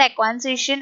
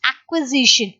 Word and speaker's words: acquisition: you can say acquisition not a question a question is a wrong pronunciation it's acquisition acquisition means what you